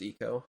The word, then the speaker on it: Ico: yeah I mean I I grew I grew up St I go but then I learned it was Eco but um yeah like